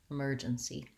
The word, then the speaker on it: emergency: Oftentimes when the E sound is in an unstressed syllable at the end, you might have a tendency to make the sound too lax and it sounds more like a S or a S, emergency, and you want to make sure that you have that tense high front E vowel, emergency.